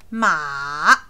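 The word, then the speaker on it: 马: how we read it the tone goes down and then up as you can see MA okay that's how you pronounce this word and it means horse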